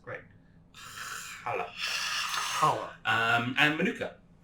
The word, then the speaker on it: challah: I get to correct your pronunciation. Oh, perfect! It's challah. Challah. You need that guttural Right.